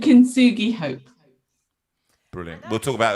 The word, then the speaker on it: Kintsugi: I want you to pronounce it, actually. Kintsugi.